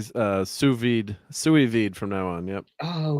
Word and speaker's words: sous vide: I'll try to say sous vide from now on.